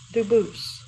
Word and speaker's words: Dubus: exact spelling in America they do pronounce it dubus but you said you pronounce Ito as the original Doo as the original French French yep very well Duo thank you now you're